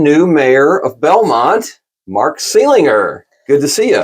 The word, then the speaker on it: Seelinger: I've been calling him Seelinger forever, and the other day I discovered that I was saying it wrong, so I apologize for that.